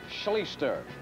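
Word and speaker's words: Schlichter: state only a sophomore art schleester is how you pronounce his name and he can run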